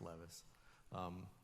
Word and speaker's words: Levis: It's pronounced Levis.